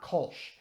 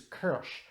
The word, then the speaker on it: Kölsch: I've pronounced this word it is not Kolsch it is Kersh the the word is German and you'll notice that there are two dots over the oh that's an umlaut which means that the vowel has a different sound the closest English pronunciation